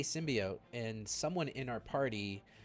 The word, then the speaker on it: symbiote: in they pronounce symbiote as symbiont, but they use it's like a different word. It's like I don't understand the difference between the two, but they're like used distinctly of one another. It's symbiote in this house.